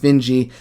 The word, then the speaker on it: Finji: by i think it's called finji pronounced benji studios i 100 it